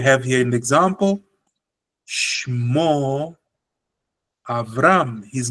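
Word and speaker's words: אברם: Shmo Abram. Avram. Very good. Shmo Avram. And congratulations, Rabbi Chimdia, for not forgetting that the Patach is a short A.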